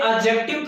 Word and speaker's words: adjective: ये जो D word है ये साइलेंट रहता है। क्या रहता है? साइलेंट रहता है डी। समझ गए ना? तो बोलेंगे एडजेक्टिव।